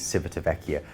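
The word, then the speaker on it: Civitavecchia: located at Civita Vecchia different people disagree on how that's pronounced but I am definitely convinced it is Civita Vecchia Rome is an ancient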